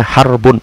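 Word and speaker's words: حرب: peperangan itu pakai huruf ha ro ba bacanya harbun bukan hirab harbun peperangan Adapun kalau menggunakan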